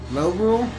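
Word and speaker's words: Lorule: Low Rule? Yep, Link Between Worlds for the Oh. 3DS. Because it's not high. It's low. Probably spelled without the W.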